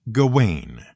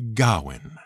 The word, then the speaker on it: Gawain: a welsh name spelled g-a-w-a-i-n the one thing you can be absolutely sure of is that it isn't pronounced gawain it's much closer to gowin though obviously don't rely